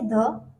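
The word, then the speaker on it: the: Down कर लीजिए कि अगर किसी भी वोवेल के आगे ध लगता है तो हम उसे ध प्रोनाउंसिएशन नहीं करेंगे, उसका प्रोनाउंसिएशन हम धी करेंगे। For example, दी umbrella, दी epic, दी accident. I सो दी accident, मैंने एक्सीडेंट दिखा, तो वहां पे हम आई सो द एक्सीडेंट नहीं बोलेंगे, दी एक्सीडेंट बोलेंगे।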